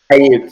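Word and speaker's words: Aiyuk: Ayuk, yep. Okay, I'm telling you, some of these people's names I'm going to mispronounce.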